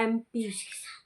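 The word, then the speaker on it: MP: अब इसकी प्रोनंसिएशन देखें। एम पी तो एम तो ए से स्टार्ट हो रहा है।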